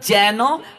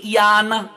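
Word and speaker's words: येन: সংস্কৃতে অন্তস্তর উচ্চারণ উয়াই এবং অন্তস্তর মাঝামাঝি হয়, তো বাংলা ব্যাকরণে হবে যেন, আর সংস্কৃতে ইয়ান।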